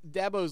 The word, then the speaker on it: Dubose: quote was man and either either we pronounced Travis's last name wrong or Dabo does because DuBose like you know that etienne guy or I can't remember how he says it I'm like I don't